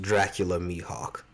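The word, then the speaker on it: Dracule Mihawk: best swordsman in all of anime zoro's Mentor dracul myhawk was a tough Contender but we're going to be giving the top spot it's pronounced Dracula mihawk but boy to the student that surpassed his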